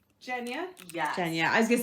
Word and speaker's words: Genya: taylor and nina okay genya jenya yeah kenya i was gonna say i always said genya but then they corrected me now because apparently it's a soft g oh you mean a hard g no jen would be